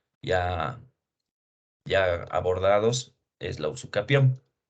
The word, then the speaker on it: usucapión: Porque no es usucapión, ¿no? No se debe dar mayor acentuación eh, a la sílaba K. Aquí es usucapión. Muchos colegas, muchos estudiantes, no sé qué pasa si por un error de lectura o qué dicen usucapión. Es usucapión, accesión, ocupación.